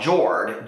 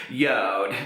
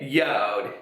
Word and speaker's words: Jord: to this brand called George j-o-r-d which I have now since learned that is pronounced yod okay yode j-o-r-d and so I was